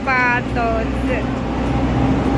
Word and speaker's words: Badouzi: Ini tulisannya Bazui tapi dibacanya Patoje.